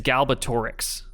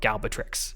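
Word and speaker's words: Galbatorix: so i i think i always pronounce or read it as like galbatrix you know the wrong thing so now it's like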